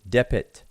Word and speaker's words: dpt: so here's another example these three glyphs transliterate dpt we pronounce it dip it two words exactly the